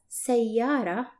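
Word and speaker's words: سيارة: The word car, which is pronounced as sayyara, the letter ta is not connected to the letter before it.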